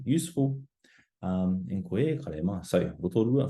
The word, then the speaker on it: Rotorua: How would you pronounce the following? So first we have rotorua, rotorua, whakatāne, whakatāne, and taranaki, taranaki.